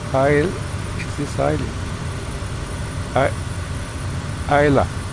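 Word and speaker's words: Islay: I Isa it's called I think if I'm right. I don't know. It could be Isa. It's a very It's spelled I S L A Y, but it's called ISA.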